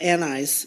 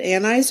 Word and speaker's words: anise: first part of it Anise is it anise or anise hiip I always say uh Anis Anis see there's a third way to pronounce it um so that is